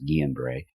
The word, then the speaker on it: Guillain-Barré: flu and Guillain-Barré, or Guillain-Barré, but it's actually pronounced Guillain-Barré.